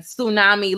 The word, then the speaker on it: tsunami: And tsunami look like tsu, but it's su. The T is silent, you know, tsunami.